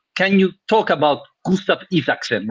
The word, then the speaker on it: Isaksen: see him enough can you talk about Gustav ifakson right pronunciation is correct that was very very good